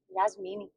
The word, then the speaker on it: Jasmine: Yasmini. My cousin Jasmine was just here, and apparently that's how you say her name in Portuguese.